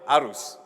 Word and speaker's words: Aruz: Aruz, the name that has been chosen for this 7-seater SUV, is actually from a Malay word Aruz, except that it's been creatively spelled with Z or Z, but not S.